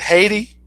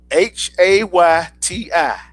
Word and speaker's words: Hayti: It had Haiti. It's Hayti.